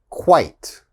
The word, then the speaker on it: quite: quiet all right and the last one eight ite like sight quite quite so again quit quiet